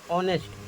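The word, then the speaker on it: honest: ए से स्टार्ट है लेकिन उच्चारण ऑनेस्ट ओ से हो रहा है तो यहां पर इसलिए एन आया है और यहां पर ओ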